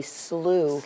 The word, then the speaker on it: Slough: of the things is learning the word Slough is actually Slough lose yes you know there's